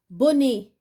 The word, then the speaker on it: bonnet: Bonnet, la lettre T.